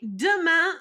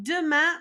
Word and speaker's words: demain: Okay, demain, you've seen this a couple times already. Demain means tomorrow.